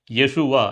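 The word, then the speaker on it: ישוע: பிரியமானவர்களே நம் எல்லாருக்கும் தெரியும் எபிரேய மொழியில இயேசு என்கிற பெயர் எப்படி உச்சரிக்கப்படுகிறது யேசுவா என்று உச்சரிக்கப்படுகிறது. இந்த யேசுவா அப்படிங்கிறது நம்ம தமிழ்ல யோசுவா என்று அழைக்கிறோம்.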